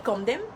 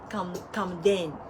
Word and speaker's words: Kamdem: Donc, quand je dis Kamdem, M à la fin, et ils entendent Kamden.